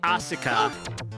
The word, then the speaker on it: Asuka: I mean, it would be Asuka. Okay, like, the U is still there, but you're right. The emphasis is not on the U.